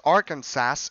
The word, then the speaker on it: Arkansas: in Arkansas in Arkansas it is strictly prohibited to pronounce Arkansas incorrectly so it's Arkansas this next law makes